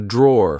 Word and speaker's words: drawer: This is a drawer. Like I said, be careful because in British English, we don't pronounce the e at the end. We just say draw.